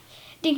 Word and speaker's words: Dink: is Dink Sammy asked dink nodded at the boy dink Sammy repeated that rhymes with think pink and stink making Rhymes helped Sammy